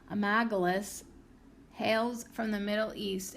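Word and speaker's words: Amygdalus: The botanical name, Amy G. Dallas, that's not how you say it, Amagalus, hails from the Middle East and stems from the ancient Sumerian Amaga, meaning great mother.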